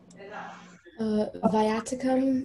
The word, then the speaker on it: viaticum: Are there any alternate pronunciations? Viaticum, viaticum.